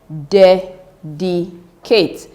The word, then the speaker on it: dedicate: Dedicate.